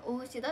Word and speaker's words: 大信田: すけど、名字は大志田って読みます。